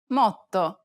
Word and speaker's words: motto: This is a common mistake because many students aren't aware that double consonants are actually pronounced for a longer duration in Italian than they are in English.